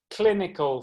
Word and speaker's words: clinical: Clinical, 3 syllables, first syllables in block capitals.